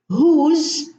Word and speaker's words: whose: Who, whom, whose, whole. Now, who, whom, whose, these are question words. and the W here is silent, and we pronounce the H.